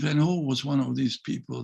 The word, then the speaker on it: Van Gogh: through suffering you know van gogh should be transformed pronounced that way vincent van gaal was one of these